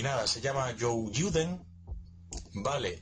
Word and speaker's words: Youjyuden: y nada, se llama Joe Juden, ¿vale? Eh, aunque en más me figura como como Joe Juden, realmente esa es la pronunciación, el nombre sería Joyen, ¿vale?